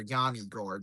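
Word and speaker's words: Yanni Gourde: Moser feeds it on Yanni Gourd or Yanni Gourd.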